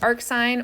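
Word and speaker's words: arcsin: s to the -1 which we would still pronounce as Ark sign or sin inverse of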